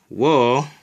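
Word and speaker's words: を: Wo.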